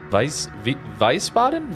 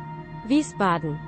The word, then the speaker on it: Wiesbaden: It sounded like a V, not a W in the Google Translate.